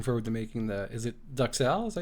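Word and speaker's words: duxelles: It is duxelle. That's how you say it.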